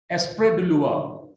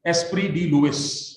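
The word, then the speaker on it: Esprit des lois: Esprit de loi. That's the French pronunciation to Esprit de Louis, as we normally read it in English.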